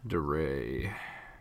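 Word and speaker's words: Di Re: that one DeRay I can mean it's spelled that's spelled dire its capital D lowercase I capital R lowercase e yeah DeRay Cato is Gwendolyn ye Oh hoo I know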